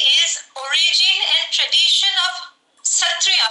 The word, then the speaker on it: Sattriya: today is origin and tradition of Satriya. We call Satriya as Hotriya. Sa we pronounce as Ho.